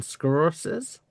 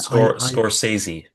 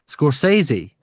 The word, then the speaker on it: Scorsese: said panel was none other than director Martin Scorses. Is that how you pronounce it? Scorsesei. Scorsesei.